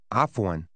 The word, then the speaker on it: عفواً: Afwan. Afwan. The sound at the beginning of Afwan is very common in the Arabic language.